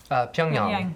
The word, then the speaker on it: Pyongyang: Calcutta and I'm sorry, how do you pronounce this again? Pyongyang.